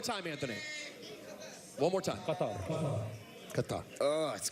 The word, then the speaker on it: Qatar: That's the proper pronunciation. One more time, Anthony. One more time. Qatar.